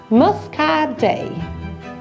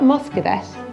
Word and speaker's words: Muscadet: Muscadet. The T is silent, so it's not Muscadet, it's Muscadet.